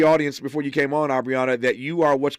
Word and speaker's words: Aubriana: It is pronounced Aubriana, correct? Yes, you got it.